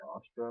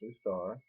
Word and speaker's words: Ostara: Some maybe pronounce it Ostra, but it is pronounced Ostara.